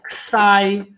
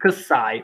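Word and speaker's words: kësaj: Kti, masculine, ksai, feminine, or pronunciation, kti, ksai, or just kti, ksai.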